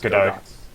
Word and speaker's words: Godot: pronounce the name as Godot.